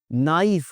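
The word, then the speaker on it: knife: नाइफ होता है, आपको पता है अच्छी तरह से, कनाइफ नहीं होता।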